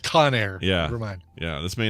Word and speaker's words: Conair: guy's name is vincent conyer vincent conyer he invented the kanye hair dryer incorrect that would be incorrect i guess that's pronounced conair yeah yeah this may